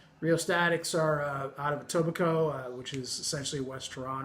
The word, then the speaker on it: Etobicoke: statics Greatest Hits REO statics are out of Etobicoke which is essentially West Iran oh if anybody's not familiar with them it's got a weird spelling it's a tithing it's pronounced Etobicoke but it's double coke if you were to